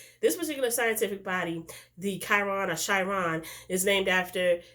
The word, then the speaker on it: Chiron: I guess that's the way you pronounce it. It's Chiron.